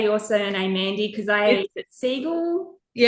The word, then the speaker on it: Siegel: Because I seagull.